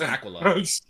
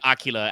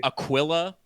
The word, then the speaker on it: Aquila: I thought it was aquala. I mean, I think you can say it both ways, but it's definitely Aquila as in eagle.